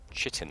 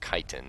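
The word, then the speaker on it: chitin: of uh head-on fight chitt armor or kiten as it's supposed to be pronounced wow plus 10 production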